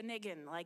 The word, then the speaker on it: nigun: It really is known really from the Yiddish nigun, or like a Yiddish or niggin, it's sometimes they spell it N-I-G-N, right?